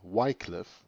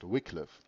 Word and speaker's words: Wycliffe: this very day john wickliffe some also pronounced it wycliffe i pronounce it wickliffe known as the morning